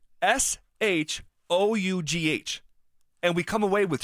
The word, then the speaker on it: Shough: The spelling of that, like think of the word rough. ROUGH. It's the same thing. It's just SHOUGH.